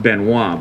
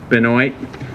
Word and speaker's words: Binoy: called 2769 by Binoy you think it would be pronounced benoit but that's not how he pronounces it Binoy and it had originally